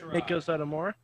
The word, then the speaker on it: Meiko Satomura: I kind of want to add someone to the Becky Lynch and how do you pronounce her name? Meiko Satomura?